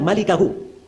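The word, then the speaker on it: مَلِكَهُ: Itu bukan bacanya illa mulkahu, memang mim lam kaf ha. Tapi bukan mulkahu bacanya, bacanya illa malikahu.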